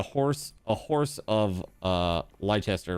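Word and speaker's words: Leicester: A horse a horse of uh Lchester, right? Or or leester, depending on how you want to pronounce that.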